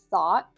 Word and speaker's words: thought: one more time because that's a tricky one for pronunciation. Thought. Thought. We have the unvoiced F at the beginning which you can think of as blowing air between your teeth with your tongue.